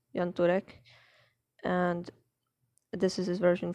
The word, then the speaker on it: Jan Turek: gentleman that's jan turek that's i believe how you pronounce it yantorek and this is his